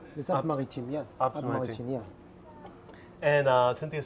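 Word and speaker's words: Alpes-Maritimes: Alpes Alpes Maritime.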